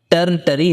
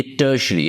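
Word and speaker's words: tertiary: ये टर्टरी नहीं है, ये टर्शरी है, आर साइलेंट है, टर्शरी।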